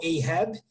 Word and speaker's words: Ahab: principal que é o capitão ahab né o Web dependendo da onde vai ser lido livro ou da pronúncia é é um caçador de